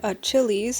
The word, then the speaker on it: Achillies: Yes, his name is spelled with an I and yes, I pronounce it Achilles and yes, his last name is stolen from the guy I have as my phone background, Akihiko Sanada Persona 3.